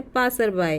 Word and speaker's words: passerby: पासर बाय का Hindi meaning होता है जो वहाँ से राहगीर गुज़र रहे होते हैं, उसे हम बोलते हैं पासर बाय इंग्लिश के एक वर्ड में। तो स्पेलिंग याद करिए इसकी, PASSERBY, PASSERBY।